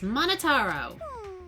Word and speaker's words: Monotaro: I'm Monotaro. No matter how you read it or spell it or say it, it's Monotaro.